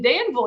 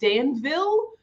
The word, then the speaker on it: Danville: if you notice like i would say danville um but that's not how you say it if you're from there it's danville like louisville likes danville and so i have